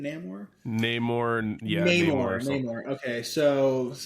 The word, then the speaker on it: Namor: Namor, yeah.